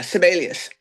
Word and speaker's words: Sibelius: How do I pronounce it? IG, what is it? The Sibelius Museum. Yeah, Sibelius.